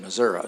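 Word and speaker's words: Missouri: the mayor uh she's the only Urban leader prominent Urban leader that pronounces a state Missoura so good deal so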